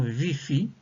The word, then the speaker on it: ViPHi: Puis, nous passerons aux indications de la respiration VIFI. Alors, VIFI s'appelle VIFI parce qu'on parle de vivance phronique isoquée. Donc, VIFI s'écrit V-I-P-H-I.